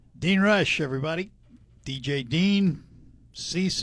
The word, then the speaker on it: Ceyx: Cease is the band. CEYX, by the way, is how you spell it.